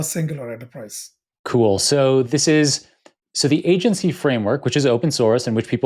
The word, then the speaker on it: AGNTCY: So the agency framework, which is open source and which people will have a link to it in the show notes.